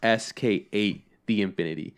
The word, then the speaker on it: SK8 the Infinity: told me how to pronounce it and it's pronounced sk8 the infinity so and i was like oh cool all